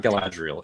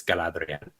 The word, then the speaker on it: Galadriel: appropriately from now on it's not galadriel it's galadriel and she has sort of